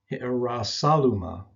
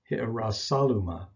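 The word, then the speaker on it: Ἱεροσόλυμα: The first spelling is pronounced with a rough breathing, and it's preceded either by the article ta or he. Either one, you'll find it spelled like this. The rough breathing is pronounced hi'arasaluma, hi'arasaluma. And this is a word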